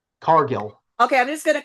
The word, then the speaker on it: Cargill: I'm watching Jay Cardell, and then I find out that Cargill. one's her. Did I say it wrong? Yeah, Jade Cargill. Cargell? Cargill.